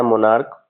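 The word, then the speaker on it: monarch: तो ये जो सी एच है इसका उच्चारण च नहीं होगा क होगा।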